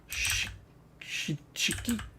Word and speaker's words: shiki: Like you almost don't even get that E sound. Because the E kind of becomes part of the next phoneme or whatever. So shiki.